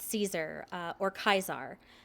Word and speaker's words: Caesar: the way they pronounce Caesar uh or kaisar the members of the Legion use uh like the classical Latin pronunciation where Caesar becomes kaisar uh like the leader